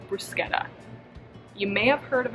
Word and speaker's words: bruschetta: this dish is from italy and it's called bruschetta you may have heard of it before pronounced as bruschetta but it's actually bruschetta and i know all of my recipes have